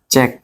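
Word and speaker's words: cheque: আই কিউ ইউ E click এরপর আছে যে চেক সি এইচ ই চেক মনে রাখতে হবে শব্দের শেষে কিউ ইউ ই থাকলে উচ্চারণ ক হবে ক হবে ঠিক আছে যেমন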